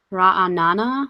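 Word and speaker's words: Ra'anana: I don't know though ra Anana says so the the stress is on the end raana I think I have a tendency to stress the second syllable oh no rabby I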